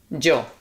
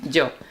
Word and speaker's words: yo: That's how people say Joe here in received pronunciation in in Spain. See Joe.